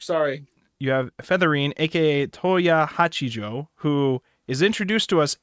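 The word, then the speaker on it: Tohya Hachijo: Let me see if I pronounce this right. Toya Hachijo.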